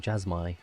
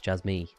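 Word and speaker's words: Jasmy: yeah apparently I was saying jasmi wrong app it's Jaz me so uh yeah I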